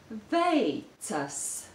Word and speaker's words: veicas: Veicas. Veicas. There are two difficult sounds in this word. The first is the diphthong A, and the second is the consonant T.